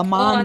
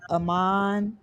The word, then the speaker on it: Amon: Lions, Oh, I Amon think Ra, yeah, St.